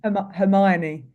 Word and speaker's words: Hermione: Hermione.